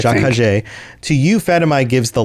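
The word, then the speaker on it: Ja-Kha'jay: Fatimai said, Jakajé, that's the way to pronounce that. Jakajé.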